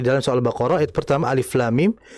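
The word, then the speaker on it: الم: Seperti di dalam surah Albaqarah ayat pertama, alif lam mim itu kita baca dengan ejaannya. Alif, kemudian lam ada mimnya, kemudian ketiga mim. Nah, kita harus membaca sesuai dengan ejaannya.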